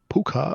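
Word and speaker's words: Púca: But it's got Oh, an accent on the U, which makes it more of a double O sound than it does an ah. When I type in puka, I get weird creatures.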